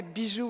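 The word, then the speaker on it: bijou: But here I say biju, which is jewel.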